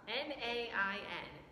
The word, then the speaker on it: Nain: a city called name it's um n-a-i-n or some people would pronounce it nain so he moved over